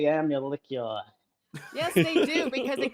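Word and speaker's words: Amalickiah: The middle vowel or the middle syllable is a meow sound like a cat makes, just so everyone knows if you want to do it right.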